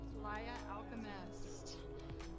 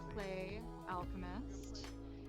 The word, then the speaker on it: PlayAlchemist: right all right everybody welcome to playa alchemist i suppose we could also pronounce this play alchemist and i do hope